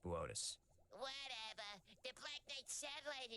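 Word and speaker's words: Boötes: Booties. Boötis. It says booties on the teleprompter. It's pronounced Boötis.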